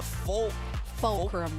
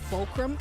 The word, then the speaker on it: Fulcrum: In my head as well, I did say Vulcram at one point. Like like kind of like vulture like V.